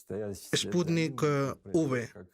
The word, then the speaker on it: Sputnik V: Él lo pronuncia, y por ende yo también, como Sputnik V. V como en Victoria.